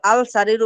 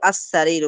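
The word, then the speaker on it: السرير: এখন দেখেন আস-সারিরু, এখানে আমরা লামটা পড়তে পারছি না, কেন? এই সিনটা হলো হরফে শামসিয়া। এটা শামসিয়া হবে এটা। আস-সারিরু, এখানে আল আল সারিরু বললে আপনার ভুল হবে, বলতে হবে আস-সারিরু।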